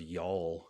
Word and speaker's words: y'all: Like our favorite word as Southerners is y'all. It's one syllable, but it's got a big tongue movement. Y. Y. Y'all. Yeah. Your tongue's moving like y'all.